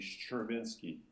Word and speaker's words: Szczerbiński: Well, the SZC, SZC is actually like a sh, so you actually say Szczerbiński.